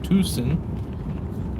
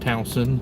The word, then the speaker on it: Towson: boom we're in downtown tucson i like saying it wrong because yeah reasons it's actually pronounced towson but our gps always said twosome i'm doing well hey